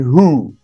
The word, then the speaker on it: who: it very good now how is wh pronounced in who okay actually it's h and how is wh